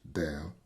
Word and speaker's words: del: with respect to Z and this symbol is pronounced Del cannot exist on alone because it is an